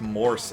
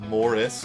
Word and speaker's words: Morse: morse code it's pronounced morse everybody it's not morse code a lot of people say morse code like morris code it's morse there's no i in there by squeezing each other's